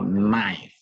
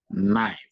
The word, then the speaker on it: knife: in them for example knife knife the one used to cut you don't pronounce the k but you stress the N sentence stress short vows